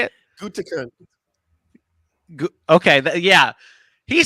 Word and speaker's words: Gutekunst: Gutekunst.